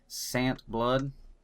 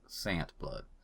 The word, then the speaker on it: Sandtblood: This is Sandtblood. The D is silent. Everybody messes that up. I don't know why. That's right. That's right, but I'm here to clarify that it's Sandtblood.